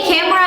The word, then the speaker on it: camera: Bacanya camera ya, bukan kamera bacanya.